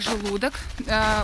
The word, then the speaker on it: Желудок: Мы приехали в исторический комплекс начала двадцатого столетия это поселок Желудок ударение так и ставится.